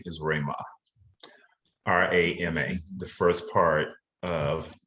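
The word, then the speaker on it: Ramah: my middle name is rayma r-a-m-a the first part of our company but everyone pronounces it incorrect they say rhema rhema and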